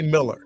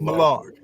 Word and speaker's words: Millar: say Miller. Mark Millar. That's how I always So- pronounce it.